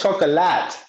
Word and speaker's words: chocolat: I always thought it was chocolate. Chocolate. Are you just being fancy, Tim? No, no, yeah, I just know. I feel like the right way to say it is chocolat. What did I Right? say? Is that Chocolat. you said chocolat? Yeah. It's French. That's how they say it.